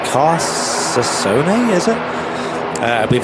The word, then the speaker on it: Carcassonne: This Ryanair UK aircraft, and from, I believe it's pronounced Carsasone, is it? I believe it's a French destination. It's a Ryanair UK plane, registered in the UK. It's got the Golf registration on it. Carcassonne.